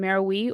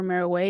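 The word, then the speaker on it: Meroë: the time the Capital was in maroi or marow depending on how you wish to pronounce it I heard it several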